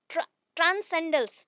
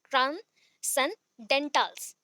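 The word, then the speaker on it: transcendentals: एंड ही emphasized ऑन ट्रांसेंडल्स, sorry pronunciation wrong की, ट्रांसेंडेंटल्स, तो wrongly हो जाता है, कभी कभी फंबल कर लेती हूँ, सो सॉरी।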